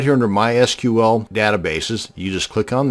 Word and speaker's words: MySQL: to create a mysql database and yes it's pronounced mysql not mysql so the next time you're at a dinner